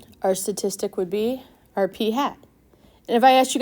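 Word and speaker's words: p̂: very similar to p it is AP with a hat P hat and that's how we would pronounce that P hat X bar all right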